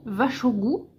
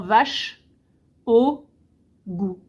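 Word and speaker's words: vær så god: je t'en prie donc là c'est vach au goû donc qui s'écrit Var plus loin sa plus loin goû c'est vach au goû donc en phonétique c'est vraiment vache au goût vache au goût et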